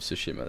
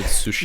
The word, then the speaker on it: Tsushima: I used to say Tsushima. But I don't know, I heard the characters pronouncing it Tsushima, so I was like, I'll just do it like that. Yeah, they go Tsushima or something. They overemphasize the S and make it sound like a T as well.